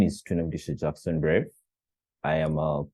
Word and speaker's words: Twinomugisha: Twinomugisha? I hope I said that right. What does your name mean? You said it right.